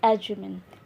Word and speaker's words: acumen: इसकी प्रोनाउंसिएशन होती है एजुमिन, ACUMEN।